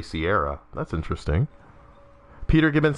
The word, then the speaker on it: Sierra Mist: Alex Bixby says, you know, I've always pronounced Sierra Mist as Sarah Mist, and have always heard it like that. Have somehow never noticed it was actually Sierra.